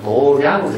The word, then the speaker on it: 도량: 이걸 우리가 일반적으로는 도장이라고 읽어야 되는데 읽는 이게 관습화된 말로는 도량으로 읽어요. 도량으로.